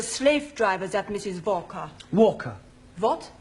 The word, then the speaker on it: Walker: driver that Mrs Walker Walker what the W is pronounced your employer's name is Walker yeah volca do you know how